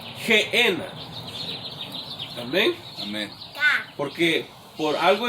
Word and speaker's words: Gehenna: que es la palabra Gehenna. En hebreo y en inglés así se pronuncia Gehenna, pero en español, debido a que cambian los sonidos, es G, que es una G de gato, Gehenna.